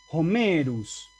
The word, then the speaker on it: Homerus: claro, para un romano, así, Homerus. Los romanos, esa H la pronunciaban. ¿Por qué? Porque es el espíritu áspero del comienzo de la palabra.